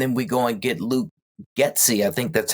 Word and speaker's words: Luke Getsy: And, with Cliff Kingsbury jumping in and then jumping out, and then we go and get Luke Getsy. I think that's how you pronounce his name.